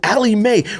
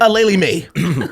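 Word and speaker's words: Aleali May: That's not how you pronounce her name, but yeah. Aleli Mae. Aleli Mae 6s.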